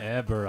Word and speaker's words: Heber: Maps, and I Herbert don't Osgard. see anything that matches Who? Heber. Heber. Osgard. Heber Osgard. The H is silent. Heber Osgard. Eber Osgard.